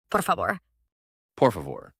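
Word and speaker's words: por favor: It's two words, poor, like the English word poor and favor, which sounds almost like the English word favor.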